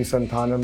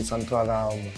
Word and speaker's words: Santhanam: Okay, so EPR, it is actually Santhanam. Yeah, it's basically Santhanam. One sec. Please, can you say it again? Santhanam.